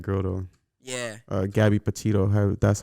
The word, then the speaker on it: Petito: i repeated that girl though yeah uh gabby petito that's how you say her name her last